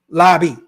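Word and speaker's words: Laube: I know people ask how to pronounce Lobby. There you go. Lobby.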